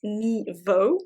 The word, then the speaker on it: Nghi Vo: There is The Empress of Salt and Fortune, written by, I believe it's pronounced Ni Vo.